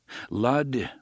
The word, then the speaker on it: Lud: It rhymes with crud, Eddie said.